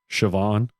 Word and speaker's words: Siobhan: Siobhan. It took me forever to figure out how to pronounce that goddamn name. That is a beautiful name, but it is not spelled at all like Siobhan would be.